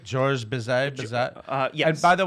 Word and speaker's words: Bizet: Bizet? Georges Bizet?